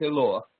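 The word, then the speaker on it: אלוה: Но это читается именно как Элоах.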